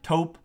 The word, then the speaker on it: taupe: I have it in the taupe color, taupe.